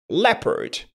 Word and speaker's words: leopard: On y est presque mais la prononciation n'est pas correcte. Alors, on dira plutôt le just like that leard.